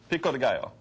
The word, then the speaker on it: pico de gallo: Pico de gallo.